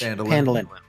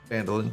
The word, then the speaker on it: Phandalin: Phandalin. Phandalin. Yeah. The H is silent. It's fine. Yeah. Phandalin.